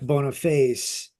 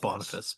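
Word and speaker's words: Boniface: Jack Bonaface is Shadowman. But what the detective is confused about is why doesn't he know he is Jack Bonaface? So, Shadowman has Bonafice. It's pronounced Bonafice, by the way.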